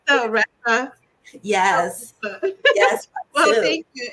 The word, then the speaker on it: Theresa: thank you so much Teresa I love the pronunciation of your name it's not Teresa guys it's Thea yes yes well thank you it was so